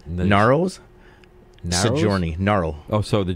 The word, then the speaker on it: Ngaro: Ngaro's? Sojourney. Ngaro. Oh, so the G silent. This G is silent.